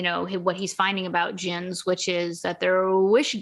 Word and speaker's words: djinn: what is it, a djinn? Yes. And so he's looking at Qurans, he's looking at history books, he's looking at other mythologies, researching a djinn, which they spell it Djinn, like jinn. Yes.